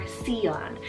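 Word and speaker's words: Syon: It's the name Seon, spelled S-Y-O-N, or Seon. So there's a couple ways that you can pronounce it depending on where you are in the world, and this one means gentle.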